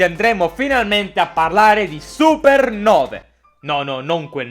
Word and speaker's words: supernovae: finalmente a parlare di supernove. No, non quel 9, 9 scritto così, con il dittongo AE che nel buon latino si legge E.